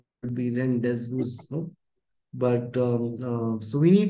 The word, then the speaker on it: rendezvous: Even though the spelling is Rendezvous, it's not rendezvous, it's rendezvous because it's a French word. It's not an English word originally.